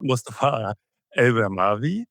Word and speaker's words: Mustafa Al-Bermani: Joining me is Mustafa Al-Bermani.